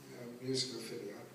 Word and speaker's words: Musicophilia: Musicophilia. How do you say it? Musicophilia.